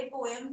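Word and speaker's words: poem: पहले पोएम था, वो पोम हो गया, हाँ, आप तो पोएम बोलते नहीं, पोम भी बोलते हैं, ठीक है।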